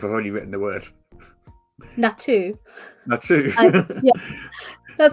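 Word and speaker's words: Naato: Natu. Natu. That sounds fun. N-A-A-T-O. NATO. NATO. I would say NATO, but...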